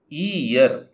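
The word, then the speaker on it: year: ಬರೀತೇವೆ ನಾವು ಕನ್ನಡದಲ್ಲಿ ಆಯ್ತಾ ಇಯರ್ ಅಂತ ಅ ಆ ಇ ಈ ಆ ಈ ಇ ಅಲ್ಲ ಈಯರ್ ಸರಿನಾ ಅ ಆ ಇ ಅಲ್ಲ ಈಯರ್ ಯರಲವ ಯ ಈ ಇಯರ್ ಈ ರೀತಿ ಹೇಳುವಂತದ್ದು ಇದು ಕನ್ನಡದಲ್ಲಿ ವ್ಯಂಜನ ಹಾಗಾಗಿ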